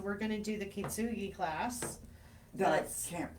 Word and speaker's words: kintsugi: So we're going to do the kintsugi class. That's kintsugi. Kintsugi. It's Kintsugi. Okay, So- I didn't spell that at all Well, that's correctly.